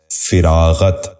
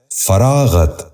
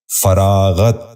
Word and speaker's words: فراغت: فخر۔ 11واں لفظ ہے فراغت۔ یہ غلط تلفظ ہے، درست تلفظ ہے فراغت۔ دوبارہ سنیے، فراغت۔ بچوں آپ بھی غور